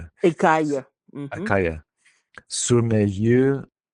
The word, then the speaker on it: écaille: And then we had our word écaille, and you did pronounce it correctly the first Okay. time. Écaille. Okay. So AIL is another set kind of combination. AIL Uh-huh. or double L gives us aïe.